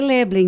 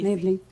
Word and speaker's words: Loeblain: Deve ser Leblen, não? É isso aí. Leblen.